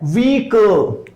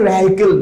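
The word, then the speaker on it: vehicle: Okay, next word है व्हीकल। So guys repeat after me, व्हीकल। इससे पहले लोग वेहिकल कहते थे, अगर आप इसको मैक्सिमम लोग प्रोनाउंस करते हैं वेहिकल। This is नॉट अ वेहिकल, this is अ व्हीकल।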